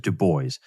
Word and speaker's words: Du Bois: of book t washington and that is w.e.b du bois who by the way just for anybody listening that is how he pronounced his name he pronounced it du bois and the question is it's been a perennial